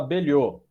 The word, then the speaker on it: Belhote: Doutor, o sobrenome é Belhote mesmo, né, doutor? Isso, se fala Belhô.